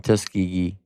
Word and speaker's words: Tuskegee: how to pronounce What's it spelled like? Tuskegee? Tus- Tuskegee? Tuskegee.